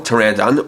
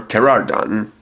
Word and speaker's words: Pteranodon: I might sound different it's actually spelled different with a silent P at the front like in pterodactyl Pteranodon or Pteranodon and it's kind of